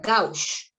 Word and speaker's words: gauge: Viene diámetro de las agujas que se mide en G, que se pronuncia gauge, ¿ya?